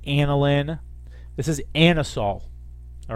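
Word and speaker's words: anisole: licorice all right is this Con compound it's pronounced anisol so it's actually not a nice it's uh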